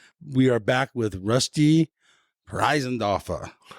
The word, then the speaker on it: Preisendorfer: Today, we are back with Rusty Preisendorfer. Is that the right way to say it? That's the right way to say it. You have a little accent on there. I love it. Preisendorfer.